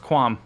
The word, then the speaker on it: qualm: let's go on i looked it up it's pronounced quam i'm sorry i have 77 i have one